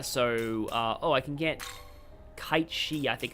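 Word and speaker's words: Cait Sith: I think it's Ketchi. I only know that because, like, the way that Joker says it in Persona 5 sounds like a Ketchi. He sounds like he's saying Ketchi.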